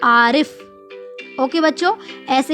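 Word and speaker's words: आरिफ़: बच्चों, यहाँ पर जो सलमा ने लिखा है हम वही पढ़ रहे हैं, लेकिन उसके बाद जब हम इसको नुक्ता लगाकर पढ़ेंगे तो इसका जो उच्चारण होगा वो थोड़ा सा अलग हो जाएगा।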